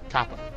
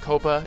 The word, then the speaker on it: Kappa: and I'm willing to pronounce it correctly as Kappa instead of Copa, even though I prefer the sound of Copa.